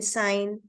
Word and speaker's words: sign: root word as in sign foreign okay A Sign okay but if leten suffix is added okay now you must have seen why sign is having G silent whereas signature it is not so you'll find that